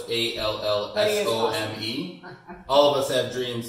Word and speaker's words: Allsome: Awesome is spelled different though. It's Allsome.